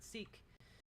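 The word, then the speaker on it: Sikh: English word seek uh this is a later Distortion of the original likely a Remnant from European colonialism well both forms are used in Modern English the pronunciation from the original Punjabi is referred okay interesting I'm I'm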